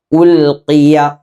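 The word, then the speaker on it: أُلْقِيَ: ഖാഫിൻ്റെ മഖ്റജ് നമ്മുടെ നാവിൻ്റെ അങ്ങേ അറ്റമാണ്. ഈ അറ്റം മേലെ അണ്ണാക്കിൽ മുട്ടിക്കുക. ഖോ ഖീ ഖീ ഉൽഖിയ. കീ എന്ന് പറയരുത്. സാധാരണ കാഫ് പറയുന്നത് പോലെ കീ എന്ന് പറഞ്ഞാൽ തെറ്റാണ്. മറിച്ച് ഖീ ഖീ ഇങ്ങനെ പറയണം.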